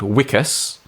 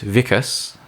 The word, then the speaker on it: Wikus: episode we heard from someone who I called wikas I've now learned it should have been pronounced vicus uh it's South African Africans name and vica